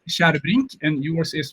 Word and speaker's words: Kärrbrink: And mine is pronounced Kärrbrink, and yours is pronounced Tjärnström.